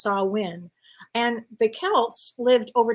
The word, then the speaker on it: Samhain: goes back to this ancient Celtic festival called Samhain. If I'm pronouncing it incorrectly, let me know. It's spelled Samhain, but it's pronounced Samhain.